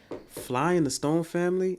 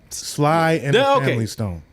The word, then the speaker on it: Sly and the Family Stone: I bought um so I bought a it was a Fly in the Stone family. Am I saying it right? Sly in the Family Stone. Fly in the Sly and the Family Stone.